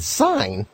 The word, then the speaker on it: sign: the bee is silent when the G&N come together like in sign the G is silent I have a question